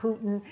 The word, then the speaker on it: Putin: And let me explain to the audience that I say Putin because I lived in Russia for 4 years, and that is how they say it, Putin, not Putin. And I like the pronunciation Putin, and I will continue to say